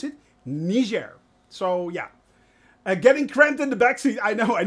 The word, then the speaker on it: Niger: entered uh Niger yes that's actually how you pronounce it Niger so yeah getting cramped in the back seat